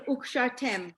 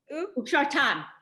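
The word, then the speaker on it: וּקְשַׁרְתֶּם: Amy, Yes, the last letter, the last syllable, ukshar, Ukshartam. tam. Yes, Okay. my mistake. Yeah. You've been saying tem, you said it for the one above, Vishina tem.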